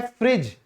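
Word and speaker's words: fridge: ठीक है, फिर है फ्रिज। तो फ्रिज में भी क्या है, डी साइलेंट है।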